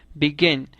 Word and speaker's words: begin: Por ejemplo, begin tiene el acento en la segunda sílaba, así beginning queda escrito con dos n.